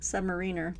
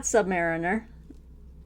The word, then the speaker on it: submariner: say don't comment, because I pronounced submariner the correct way. It is not submariner. You ask anyone in the Navy or the Coast Guard and they will tell you it's submariner. Okay.